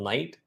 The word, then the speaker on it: knight: So basically, KNIGHT is also night.